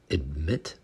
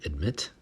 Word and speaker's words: admit: next word is admit admit you will hear both with the T admit and also without the